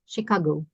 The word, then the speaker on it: Chicago: and Boston boasted dozens CH is pronounced as Chicago so the range of